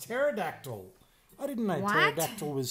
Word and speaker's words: pterodactyl: Because the P is silent. But I just said petrodactyl. It's pterodactyl.